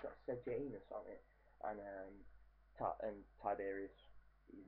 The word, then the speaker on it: Sejanus: That one's got Sejanus on it, and I said it right, it's got Sejanus on it, and Tiberius, he's making Sejanus a consul in that one.